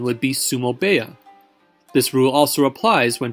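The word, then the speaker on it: sumo-beya: heya is pronounced baya therefore instead of saying sumo hiya the correct pronunciation would be sumo baya this rule also applies when talking about a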